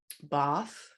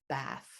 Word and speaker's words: bath: examples of that is that there's a large group of words in the uk that get pronounced with an open ah sound like bath and past and ask and then when you come over to the states in canada those words jump they abandon that ah group and they instead belong to an a group so they become bath and passed and ask yes and i